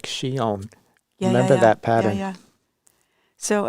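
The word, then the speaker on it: Chillon: think we did a release of shion which is spelled c-h-i-l-l-o-n and it was a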